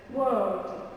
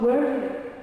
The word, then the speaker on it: world: So I say word, world, world, not word, right?